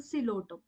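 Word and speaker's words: Psilotum: for equisetum P for cotum so we are not going to pronounce the word like the pilum so p is silent over here we pronounce it as a cotum and a for Ed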